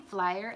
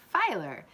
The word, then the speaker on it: Filer: I keep saying Flyer, and I don't know why. It's Filer.